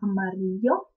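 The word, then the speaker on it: amarillo: также это слово означает описи жёлтый - Это Марио а Обратите внимание то что и краткое в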